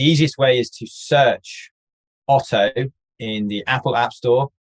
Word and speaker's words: Oto: ways actually the easiest way is to search auto in the apple app store or the google